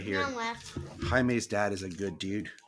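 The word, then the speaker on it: Jaime: it was so annoying because the guy kept pronouncing it as like jam not even Jamie he was like jam Rees I was like no it's Hae can you hear yeah it's it's it's really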